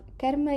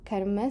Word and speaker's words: Karma: You have Karma Yoga. Notice that this is pronounced karma, sort of with a closed A, and not karma, as we usually tend to hear often spoken in mainstream media.